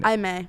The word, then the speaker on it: Imei: what's your name again I may I may I may it's spelled like Amy but it's IMEI this is her what